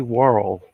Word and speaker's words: Worrell: Okay, Ernest P. Worrell. That rhymes with squirrel.